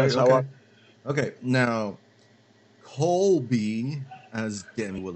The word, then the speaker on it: Colby: But it's Colby. C-O-L-B-Y, not Kobe.